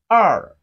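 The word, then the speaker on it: 二: Chinese is pronounced as r it has a falling tone of Chinese language falling to R are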